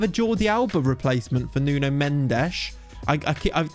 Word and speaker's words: Nuno Mendes: jordi alba replacement for nuno mendesh i i i need to say nun mensch that's just exactly how you have to say his name i think kim pembe